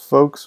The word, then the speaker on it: folks: s folks like that l just kind of disappears right folks like just folks rhyme with spokes yeah pretty much yeah